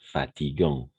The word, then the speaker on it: fatigant: Au niveau de la prononciation, on va tout simplement dire fatigant.